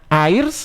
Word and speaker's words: Air's: Namanya Airs atau R ini bacanya.